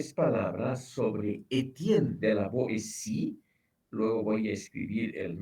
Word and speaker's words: Boétie: Para separar los sonidos se pone o un acento o una diéresis. O sea, este apellido Boétie, la T ahí se pronuncia como S, la E puede tener encima también una diéresis en lugar del acento que le he puesto.